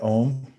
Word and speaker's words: om: and now we'll try the mantra om it's one syllable say it three times